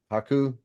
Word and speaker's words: Haku: Hau or yeah how do you say it Haku how you say yep Ming y Haku King